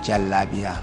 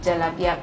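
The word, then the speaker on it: jalabiya: lot of jalabia around that's how it's pronounced right jalabia jalabia the long stress yes okay does it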